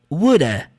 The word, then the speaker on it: woulda: Você pode pronunciar would have ou woulda. Woulda. Na prática, numa fala rápida, com as palavras conectadas, é muito comum você ver essa contração como woulda.